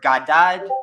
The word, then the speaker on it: Gad: There is no A. It's GD. Good. It's pronounced Gad. But the word, the reason why I'm saying that is his name literally is basically God.